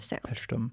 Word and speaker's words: Paestum: Pesum pesum, which is spelled p a e s t u m, right?